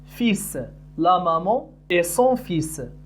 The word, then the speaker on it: fils: لا نقول fils. لا ننطق الحرف L. نقول fils.